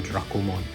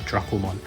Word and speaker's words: Dracomon: characters of Dracomon's name, if you romanize the Japanese characters, it is pronounced Dorako. So the evidence supports it, so I'm just going to call it Dracomon.